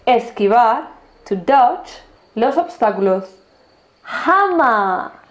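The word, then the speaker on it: Hummer: chip touch los obstáculos hama así se pronuncia y no hammer se pronuncia hama llama el coche más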